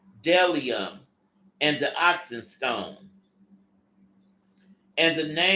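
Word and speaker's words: bdellium: There is Bellium. The B is silent. So it's Delium and the oxen stone.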